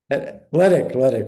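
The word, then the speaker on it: Hledik: The paper was co-authored with Ryan Heldick, Hedlick, Athletic. Ledick. We forgot the H's. The H is silent.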